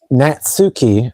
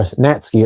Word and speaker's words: Natsuki: get nerdy out, but Nazki um Natsuki or Natsky, it's how it's pronounced, is like one of